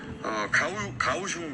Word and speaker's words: 가오슝: 가오슝 시장. 네. 정확하게는 발음이 어떻습니까?